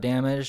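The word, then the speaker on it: Damag3: Uh Damage is a trans rapper and she's really cool.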